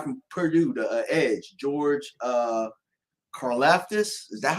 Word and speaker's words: Karlaftis: My number 2, the guy from Purdue, the edge, George Karlaftis.